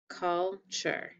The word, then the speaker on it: culture: i want you to scoop those syllables in box in the choo sound call oh sorry not the two sound the cheer sound call sure you know what's funny